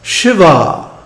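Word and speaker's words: Śivā: and he also mentions Shiva with a long a at the end this is another reason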